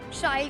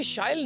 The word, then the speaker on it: Shyle: So as you just said, it rhymes with style।